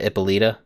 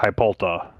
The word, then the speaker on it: Hippolyta: originally by Black Adam, Hippolyta, Viking Prince, and Swamp Thing. Hippolyta? Centuries ago. Sorry? Nothing. I was fact checking. Yeah, you said Ippolita, right? Wonder Woman's mother. Okay. Yeah. Hippolyta. There you go.